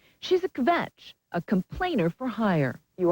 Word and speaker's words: kvetch: Find this evening that word kvetch, which we hope is close to the correct pronunciation.